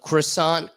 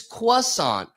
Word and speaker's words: croissant: But even more so, this is the croissant cissant thing. When I say croissant, they go, "No, no, no. It's quissant.